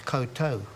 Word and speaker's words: koutou: But as I was just explaining, um, it's the same as koutou, k o u t o u and and